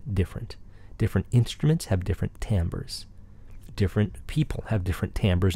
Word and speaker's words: timbre: We'll also discuss what timbre is. Often mispronounced because it's spelled Timbre.